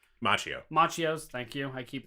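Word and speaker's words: Machio: do is every now and again they'll have mock eCos Macchio Macchio's thank you I keep pronouncing his name wrong it's good that Macchio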